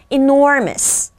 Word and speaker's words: enormous: 한 번 더 enormous nor를 강조하는 거예요. 우리 다섯 번만 말해 볼까요? enormous.